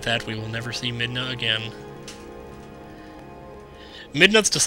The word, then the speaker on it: Midna: we will never see midna again midna's just like the perfect name to pronounce that last a all perfect like like in hey Santa by Wilson Phillips the